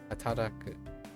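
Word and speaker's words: 働く: Oh, I'm missing a syllable. Not haraku. Hara. No. Hata? Hataraku.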